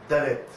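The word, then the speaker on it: דלת: Donc cette lettre-là, comment est-ce que se prononce? C'est dalet.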